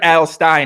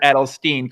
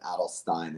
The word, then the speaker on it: Adelstein: It's Garrett Adelstein, not Garrett Adelstein.